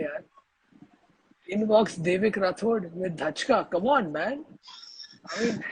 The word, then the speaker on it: Dhachka: Is that how you pronounce it? Dhachka?